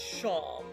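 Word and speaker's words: Seam: The name's Seem, pronounced Sham.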